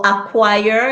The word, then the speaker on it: acquire: descent good one kavisha so acquire you hear that q no c indict no c muscle